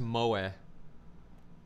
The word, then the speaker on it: moe: Also, it says it's pronounced moe. Moe? Yeah, instead of moe.